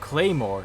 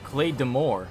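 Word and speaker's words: Claidheamh Mòr: a class so mobile this weapon pronounced claymore and not glade d'amour or clay - even more is the bastard child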